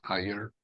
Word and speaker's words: Iyer: ways it's it's understandable it's spelled as i y e r and it's pronounced as higher and just like higher like I like an i and a year it's easy but once once